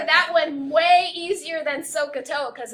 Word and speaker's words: SOHCAHTOA: So you pronounce that kind of funny. You say so, and then the cosine is AH, ka, and then the tangent is opposite over adjacent, toa, SOHCAHTOA.